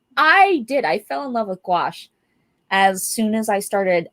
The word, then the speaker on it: gouache: But Yeah, a lot of people pronounce it like gouache or gouache. I'm like, huh? Like, no. Like somebody called it goulash one time.